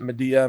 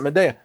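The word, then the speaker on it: Midea: grown to trust and it's called Meda. M I D E A M or maybe you pronounce it media. Ma, I don't know. Midia. I pronounce it media.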